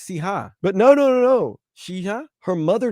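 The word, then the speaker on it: Cija: Initially, she says people think it's Sia, like Sia. Right, but it's Siha.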